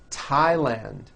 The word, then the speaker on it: Thailand: spelled with a th they are pronounced as if they were spelled with a normal T like that and these words are Thomas Thompson Teresa Thailand Thames like the river